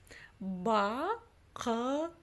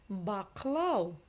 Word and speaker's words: бақылау: Бақылау. Букву «к» мы с вами только что читать научились, а буква «ы» читается очень коротко, да? Она вроде бы и есть, но ее вроде бы и нет. Бақылау. Паспорттық бақылау.